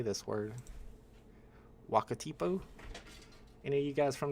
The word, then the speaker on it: Wakatipu: Wakatipu? Any of you guys from New Zealand? Wakatipu seems right to me. But they spelled it Wakitipu. You can't spell it Wakitipu when it's Wakatipu. I'm killing myself.